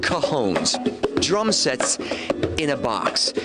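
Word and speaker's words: cajón: they're the makers of one of the top cajon drum lines in the country david martin checking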